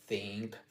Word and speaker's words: think: La otra es tomar en La otra es mirarlo de este ángulo de decir, bueno, para pronunciar la th en inglés tienes que como si mordieras la punta de la lengua.